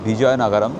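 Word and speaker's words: Vizianagaram: আমি উচ্চারণ করলাম বিজয়নগরম, স্পেলিং হচ্ছে VIZIA, বা যারা জেড বলেন VIZIA, বিজয়নগরম।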